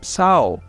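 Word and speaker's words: sağol: a lot which is Sao Sao means thank you and so actually it also has a g over there and you don't pronounce it you just pronounce the O after the what after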